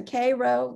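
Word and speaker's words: Cairo: the first one is the k row yes that's the way it's pronounced rosenwald school in tennessee notice those windows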